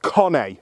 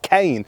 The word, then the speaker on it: Cane: spelled like our word Kane but it's actually pronounced Kane in Italian now most have agreed that Kane is the preferred way of saying it but some still go with how it's spelled and opt for Cain and that is fine the second slightly lesser